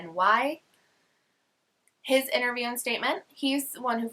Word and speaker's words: Czerny: George Czerny, I think is how you pronounce it. It's Czerny.